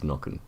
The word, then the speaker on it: Nokken: I'm going to pronounce it as Nokken. Yeah, Yep. double K, Nokken.